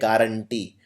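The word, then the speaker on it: guarantee: जी के बाद यू लगता है। इसको लिखते हैं गारंटी। लेकिन बोलते हैं गारंटी।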